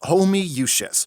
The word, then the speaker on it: Homoousios: It's pronounced homoousios.